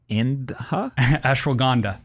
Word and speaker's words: Ashwagandha: There's something else that you talked about, and I'm going to butcher how I pronounce this, but it's Ashwagandha? Ashwagandha.